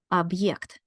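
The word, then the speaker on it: объект: this heart sign right it has the heart sign Ed object can you hear what I just did I am not pronouncing and yeah jointly because I have the heart sign right here in the middle right here in the middle it tells me that I must say object object if we didn't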